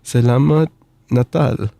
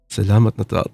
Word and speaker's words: Selamat Natal: Selamat Natal. Oh, that's how you say it in Indonesian. Okay, I need to try to remember that. Selamat Natal.